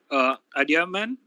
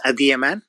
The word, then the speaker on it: Adiyaman: Adiaman, sorry if I'm pronouncing the name wrong. Yeah, thank you, Krishna. My name is Adiyaman.